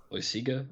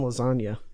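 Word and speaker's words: Loaisiga: that in mind actually Jonathan louisia or is how he say his name Lucy good I think I see Garvey I always I always caught up Jonathan lasagna it just looks like lasagna but he actually pitched today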